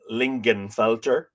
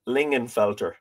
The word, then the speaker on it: Lingenfelter: pronounce her surname, because apparently you don't pronounce the G. I've been saying Lingenfelter, but it's Lingenfelter.